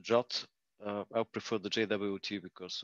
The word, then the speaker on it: JWT: format classification this is the jwt family pronounced jot i prefer the jwt